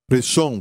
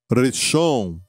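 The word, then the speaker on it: ראשון: Reshon quer dizer primeiro. E se escreve assim, em hebraico, da direita para a esquerda: Resh, Aleph, Shin, Vav, Nun. Reshon.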